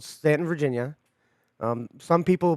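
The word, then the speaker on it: Staunton: in a town called Stanton, Virginia. Some people pronounce it Stan. Please don't ever do that. Really? Yeah, some people pronounce it Stan. No, don't do that.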